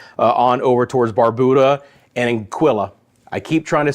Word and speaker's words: Anguilla: Kitts and Nevis, on over towards Barbuda and Anguilla. I keep trying to say it right. It's in my head. I promise. It's like Quill, Anguilla, Anguilla, Anguilla.